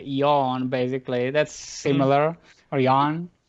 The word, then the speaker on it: Jan: I think you're thinking it's like it's yawn.